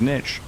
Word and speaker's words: niche: Wait, I said niche. That's how it's pronounced. Niche.